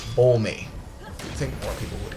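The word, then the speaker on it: Bolme: C bul me and yes it is pronounced bul me it is not pronounced bul or blame or bloom or whatever or or bomb or whatever the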